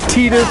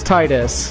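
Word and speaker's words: Tidus: I'm not a weed that's the ultimate argument is that pronouncing it T this is just the weave way of pronouncing it cuz we've like to pronounce things weirdly because they think it makes them sound more Japanese or something that's you know this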